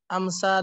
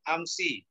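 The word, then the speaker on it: أمسِ: Amsa dan al-ana itu mabni. Kalau ma'a ini Murab. Ustaz. Iya, Ustaz. Bukan amsa bacanya ya, amsi. Oh, amsi. Ya, tidak ada kata amsa.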